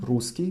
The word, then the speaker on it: русский: И, the example words would be русский, русский, written русский with double S, pronounced русский with one S.